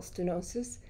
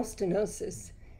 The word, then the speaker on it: stenosis: First of all, the name spinal stenosis is it's like a terrifying combination of sure. words. It just sounds horrible, you know. It rhymes with halitosis.